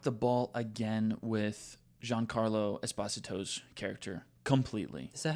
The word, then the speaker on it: Esposito: is they dropped the ball again with Giancarlo Esposito's character. Completely. Is that how you say his name? That's how he said it. He like everybody's saying Esposito.